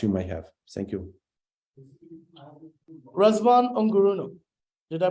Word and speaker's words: Razvan Ungureanu: Razvan Ungureanu, did I pronounce that right? Yes, more or less, yes. Okay, let me give it a try. Razvan Ungureanu.